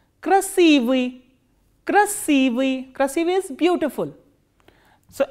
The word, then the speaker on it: красивый: K, R, A, S, I, V, I and I kratke, and the stress is on I. Красивый, красивый, красивый is beautiful.